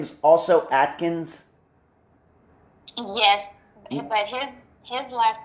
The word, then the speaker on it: Adkins: last name is also Atkins yes but his his last name is spelled a d okay okay i n s it is a different spelling it's a different spelling but it sounds the same yes all right just